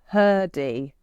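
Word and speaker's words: Hrdy: Um, you recommended I read Father Time by Can you say her name because I feel like it's missing a vowel? Yeah. Yeah. I didn't realize this, but it is It is Sarah Blaffer Herdy.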